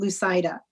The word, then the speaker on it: Lucida: i also see um lucida next so i tell people the best way to remember my name is don't lose sight of me because it rhymes with lucida and you did remind